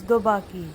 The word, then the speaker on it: Dobanki: reach daki camp now if you notice n is silent when you pronounce daki we are going to